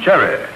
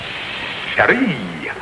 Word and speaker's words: chérie: You got the wrong accent on there. In the French language, that ain't cherry. That's chérie. Chérie. Cherie. Cherie. Yeah, and in the French language is the one where you don't accent the first syllable, you sprays it.